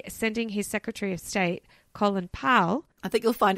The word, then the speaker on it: Colin: myself to say no don't say Colin it's Colin Colin Powell yeah Jesus this is